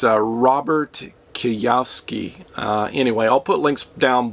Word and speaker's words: Kiyosaki: Rich Dad, Poor Dad, and I can never pronounce this guy's name. It's Robert Kiyosaki.